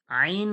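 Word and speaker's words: ع: থেকে কি বাহির হয় আইন হা আইন হা আইন হা আইন হা আইন যে আমি উচ্চারণ করব কণ্ঠনলীর মধ্যখান হইতে আইন হা আইন হা আইন হা আইন হা আইনটা একটু চেপে বের করব এরপরে দেখুন মাখরাজ নাম্বার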